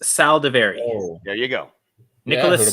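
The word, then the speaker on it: Saldiveri: Old Dominion for this I'm going to say that's pronounced Sal davary oh there you go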